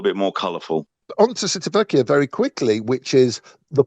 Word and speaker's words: Civitavecchia: Repeat after me. Civitavecchia. Civitavecchia. There you go. But I probably pronounced that wrong anyway, but it has that extra syllable in it.